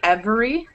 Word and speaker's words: every: not improper to say every and pronounce the E like that but it's unnatural so it's much more natural to say every that's how it naturally is pronounced desperate e disappears you're